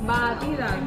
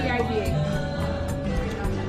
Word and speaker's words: batida: Batida.